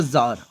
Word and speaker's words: Tsar: Now he was arrested in the year 1849 by the Emperor Tsar of Russia. The Emperor of Russia has been described as Tsar. So the T is silent here.